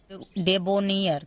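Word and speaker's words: debonair: ठीक है, DE, यहाँ पे ई को हम ए लिखेंगे, बी को ब, ओ को ओ का मात्रा, NAIR, नेयर, डेबोनियर।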